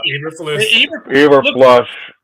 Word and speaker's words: Eberflus: Eberflus.